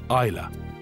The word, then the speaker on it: Islay: Isa the Y is silent 270 vessels have come